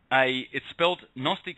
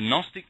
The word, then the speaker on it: Gnostic: Gnostic is spelt Gnostic, and that GN can sometimes be spelt KN.